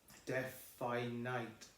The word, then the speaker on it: definite: Number 6, well, it's all the I's, definite, not Nate, definite.